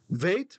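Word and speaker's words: בית: And the reason it's vait is because this guy is a vocal schwa. He starts the syllable, he starts the word, he doesn't end one.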